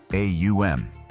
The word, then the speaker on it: Om: The mantra Om isn't simply 3 letters, but a precise sequence of sounds, Aum, that gradually closes the vocal apparatus, representing the cycle of creation, maintenance, and dissolution.